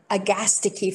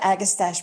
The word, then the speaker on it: Agastache: whole group of the agastiki family and it's a gastiki not agastache because as you all know perfectly well in greek the anti-penultimate syllable always takes the stress right i mean we